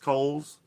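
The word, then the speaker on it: Kohl's: just came local supermarkets coals pronounced coals uh right next door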